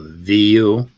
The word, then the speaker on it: vous: for that word uh vu it's v-o-u-s oh okay i should have known that v-o-e here's the thing the s on the end isn't isn't pronounced right right um but what